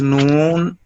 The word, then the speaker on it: نون: نون pronounced as noon. Start using corner of tongue touching base of teeth or gums of front corner teeth.